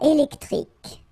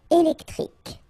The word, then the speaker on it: électrique: Un câble électrique. Final E here and here are not pronounced. Un câble électrique.